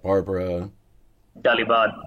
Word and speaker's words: Barbara Dalibard: I mean, your boss, and I'm probably going to mispronounce her last name, so I'll let you do it. Barbara Dalibard.